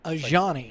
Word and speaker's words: Ajani: Ajani. Yeah, okay. It's like with a J. It's a soft J.